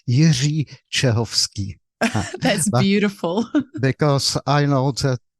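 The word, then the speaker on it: Jiří Čehovský: know I butchered it how would you say your name in check just so we can hear it correctly so my name is Yi chovsky that's beautiful because I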